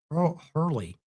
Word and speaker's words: Hurley: Those 2 nights have Dakota Hurley, not Harley, but Hurley. That other word I can't even pronounce.